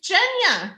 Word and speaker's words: Genya: Is it Genya or Genya? Because I've heard you pronounce it Genya, and someone asked in the comments. It's Jenya.